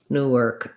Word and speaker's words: Newark: It looks like an arc, but it's actually Newark, irk. It's an ER sound, Newark.